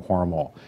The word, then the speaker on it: Hormel: It's worth noting right off the bat that the family still pronounces the name Hormel. It's a German name, not a French name, as the company was